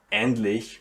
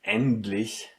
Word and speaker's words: endlich: And as well, endlich, which means finally, yeah. And endlich, here you don't say T, you say D.